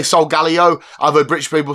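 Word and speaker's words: Solgaleo: start off with a a cheap one and it's so Galo because I've heard this pronounced so Galo I say so Galo and I I'm in two fcking minds I've heard British people say so Galo I've heard British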